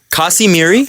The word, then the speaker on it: Kasimir: in case I was a bit too quick pronouncing the name in the first clip it's Kim kasimir finish is a weird language just yeah I